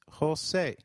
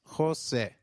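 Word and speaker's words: José: the EI in eight the letter J sounds like H in Spanish so try saying Jose it is Jose you will encounter a lot of joses if you travel to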